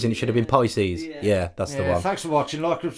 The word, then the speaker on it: Pisces: Pisces. You said pieces.